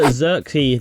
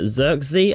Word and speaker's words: Zirkzee: We've had a stormer here in Joshua Zirkzee there. That's how you pronounce it right there. Zirkzee, I presume, from Bologna right here.